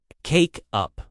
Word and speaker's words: take up: Pronunciation tip. The stress is usually on up. Cake up.